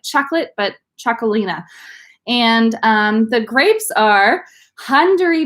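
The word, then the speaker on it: Txakolina: and it's very confusing to pronounce that it's pronounced jacquelina like chocolate but choco Lina and the grapes are Hungary B belt saw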